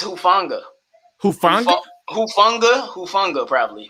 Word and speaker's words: Hufanga: It's Hufanga. Hufanga? Hufanga, probably. Hufanga.